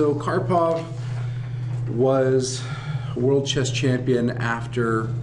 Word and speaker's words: Karpov: talents as well now karpov was born um May 23rd 1951 his um name is pronounced just like it looks which is nice and